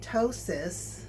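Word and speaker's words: ptosis: It's spelled P T O S I S, which means breast droop. Um, tossis could get worse with the implant um because of the heavy weight of it.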